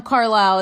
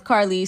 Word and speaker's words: Carly: They think I'm Carlisle, it's Carly, so I get called sir all the time.